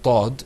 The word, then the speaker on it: ض: The difference between the dad is that it's going to be pronounced full-mouthed, or you're going to purse your lips, and it has a kind of rich sound to it.